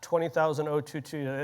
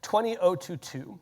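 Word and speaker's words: ISO 20022: That's how they say it. Not 20,00022. They say it a very specific way 20022 which is an XML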